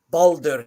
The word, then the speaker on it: Baldur: point where like again the letter R is its own syllable so there's bald ER Baldur and that's a double-syllable word right there uh for